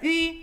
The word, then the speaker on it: ü: It's not pronounced U, as in you and I, but Ü, as in the vowels of the word sweet mushed together. Ü.